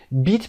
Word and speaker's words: beat: beat به معنای شکست دادن هست، win به معنای برنده شدن. win تلفظش دقت داشته باشید، اما صدای beat کشیده است. beat ای کشیده داره.